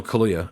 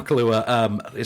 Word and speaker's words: Kaluuya: The general gist here is Daniel Kaluuya. Kaluuya? Like the drink. Only not spelled the same.